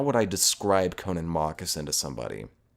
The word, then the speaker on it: Connan Mockasin: It's spelled Connan, that's Connan, and then Mockasin, Mocksin. Connan Mockasin.